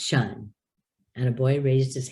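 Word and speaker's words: -tion: and so it's not tie on it's shine i'll never forget the day that i was teaching in a class and i said this is not tai on it is pronounced shun and a boy raised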